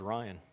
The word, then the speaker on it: Rion: Yep, sounds like his name's Ryan. Sounds like they're pronouncing it Ryan. Ryan Tenchavez. Palmer will step off. It's spelled R-I-O-N.